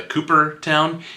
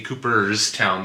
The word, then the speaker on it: Cooperstown: I kept on calling it the Cooperstown. It is the Cooperstown. There's an S in there, Cooperstown, by Harbor Breeze.